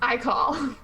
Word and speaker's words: Ikal: I call to like ickle. No, wait, I take that back. No, I specifically am the one who mispronounced it as Ickle. Okay. So the village of Ikal or Ickle, duly noted.